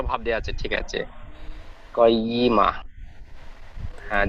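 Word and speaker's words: قيمة: ফাইয়া, ফিহা কুতুবুন কাইয়িমা, কফ যাবার ক উচ্চারণ হয়, কফ অক্ষর মুখ গোল করে পড়তে হয়, কাইয়িমা হবে না। কয়, কয়িমা, ফিহা কুতুবুন কাইয়িমা, ফিহা কুতুবুম কয়িমা।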